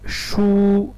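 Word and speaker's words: 输: And the second one is shu with a first tone, shu as a verb, it means lose, lose.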